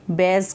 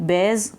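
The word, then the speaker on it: bears: ठीक है, बेयर्स कब. इसको बियर नहीं कहना, बियर इज़ नॉट the right pronunciation of this word. It बेयर्स कब.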